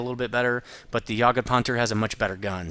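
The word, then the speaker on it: Jagdpanther: tradeoff um and that the way I'm saying that tank yaged ponter is the German pronunciation so I'm not saying it wrong ponter with no h is the way the Germans say it so if you don't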